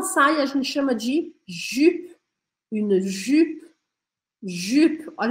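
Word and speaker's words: jupe: inglês e uma saia a gente chama de jup jup jup Olha o meu biquinho jup Eu gostaria que você tivesse anotando aí no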